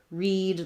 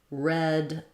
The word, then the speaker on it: read: confusing because of course we have read like read a book present tense and we have red like i read it that's the same as this kind of red past tense so that's just a